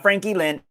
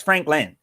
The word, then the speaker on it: Franklin: That's like saying Frankie Lynn. It's not Frankie Lynn, it's Franklin.